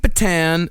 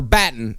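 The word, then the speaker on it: Battan: Uh so Kate Batan uh or Batten as uh is actually pronounced, she was the lead investigator and she already knew by 1:30 p.m.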